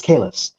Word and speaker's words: Kalis: So I believe next, is it Kalis M? And please let me know if I mispronounced your name. No worries. Yeah. It's Kalis.